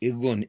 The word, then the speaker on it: Irgun: Ergun, am I pronouncing that correctly? Irgun.